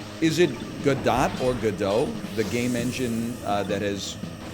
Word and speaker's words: Godot: as the Tweet said Godot rhymes with robot I'm bumping as if